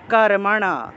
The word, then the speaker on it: কর্মণা: উচ্চারণ হবে, ন প্রসিদ্ধেদ কর্মণা, কর্মণা, মূর্ধন্য আছে, তাহলে না উচ্চারণ হবে, জিহ্বা উল্টে ন উচ্চারণ, তাহলে কর্মণা, ন প্রসিদ্ধেদ কর্মণা, এইভাবে উচ্চারণ হবে।